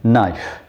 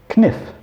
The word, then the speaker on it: knife: Knife would at one time have been pronounced kniff. Now, kn, the kn sound we don't like anymore, and so we've dropped it.